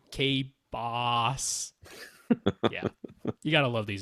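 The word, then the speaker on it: K-Bāss: It's K-B-A with a line over it, S, K-Boss.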